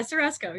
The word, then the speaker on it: Surrusco: Am I pronouncing that right, Christina? Surrusco. How do you say that? Yeah, Surrusco. Yeah, you're good.